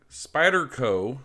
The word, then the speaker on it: Spyderco: this is the spider spyderco i gotta make sure i say it right i keep dropping the r off for some reason spyderco uh website here